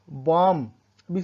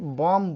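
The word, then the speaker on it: bomb: इन के बाद कैसे जिसे कि बीडीओ एमबी बिंबा से बंब नहीं बोलेंगे मुंबई नहीं बोलेंगे बॉम्ब बोलते हैं तो यहां पर भी साइलेंट होता है नहीं के बाद आया है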